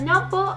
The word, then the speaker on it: number: After a number of injections, my jaw got numbered. Number. Like numb? Number. Number. Oh. Yeah. The B is silent.